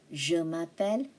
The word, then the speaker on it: m'appelle: It should be like ma. Je m'appelle. And the E is silent.